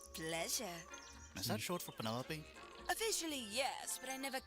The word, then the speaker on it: Penelope: Is that short for Penelope? Officially, yes, but I never can be bothered with all 4 syllables of Wow.